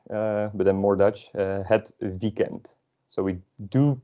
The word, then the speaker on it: weekend: But because this word is, we just took this word from English, we pronounce it sort of like in English.